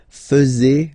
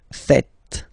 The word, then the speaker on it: faites: And it's quite funny because many French people tend to make the mistake and tend to say vous faisiez, okay? But then no. It's vous faites. Vous faites. Okay? So remember, final S here is not pronounced, and then this is not pronounced either. So faites, faites. vous faites.